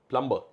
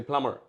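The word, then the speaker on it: plumber: Indian ইংলিশে এরকম উচ্চারণ সিম্পল প্লাম্বার প্লাম্বার আমরা বলি প্লাম্বার বাট ইফ ইউ R American ইউনা সে প্লামার প্লামার বি টা নেই আচ্ছা ব্র্যান্ড নেম কি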